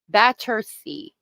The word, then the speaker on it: Battersea: Battersea. Thank you. Battersea. No, you're good. I appreciate the corrections because I mispronounce things all the time.